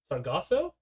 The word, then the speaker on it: Sargasso: i'm just pronouncing it wrong you seem to pronounce differently but sargasso yeah sargasso c to reproduce this is a